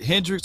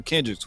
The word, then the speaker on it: Kendricks: can say okay or is it hendricks or kendrick's how you say his name is it with a k kendricks kendricks kendricks yeah and bar but